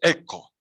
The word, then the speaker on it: ecco: En italiano se dice ecco, ecco, en italiano se dice ecco, ecco, ecco.